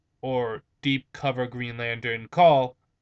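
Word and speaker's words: Caul: Deep Cover Green Lantern call I think that's how he's pronounced his name c a u l call and um basically he's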